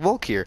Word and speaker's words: Valkyr: in this world and I say Valkyr I say it like walk here because it's quicker say and I could respond